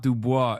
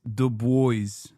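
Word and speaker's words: Du Bois: No, it's not Dubois. It's Dubois. W-E-B Dubois. That's the correct way to say it.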